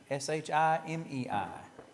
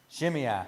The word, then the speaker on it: Shimei: I'm going to say Shimei, S-H-I-M-E-I. Anybody got something better? No? All right. Say again? Well, how would you pronounce it? Shimei.